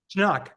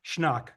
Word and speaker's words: Schnaak: Schnaak. Schnaak. Like knock, schnock. Like Oh, schnapps. all one syllable. Like schnapps. Yeah. Yeah, Okay. schnapps with a K.